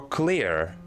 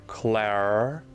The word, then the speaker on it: Claire: Is it Claire or Clear in French? No, it's it's Claire, but with a rolling more French R. Claire.